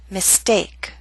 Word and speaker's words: mistake: Note with the ST we do not have the strong puff of air. Again, mistake.